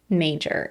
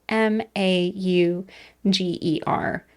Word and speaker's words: Mauger: And we're going to talk about the disappearance of 21-year-old Olga Schultz Mauger. And for clarity for people who are interested in researching later, that is spelled m a u g e r.